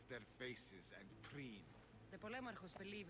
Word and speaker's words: Polemarchos: Polemarchos. That's how it's supposed to be pronounced.